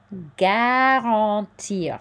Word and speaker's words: garantir: This part here is nasal. So this is an en sound. Garantir. And we do hear this R here. Okay, so garantir les, just like up here, les droits.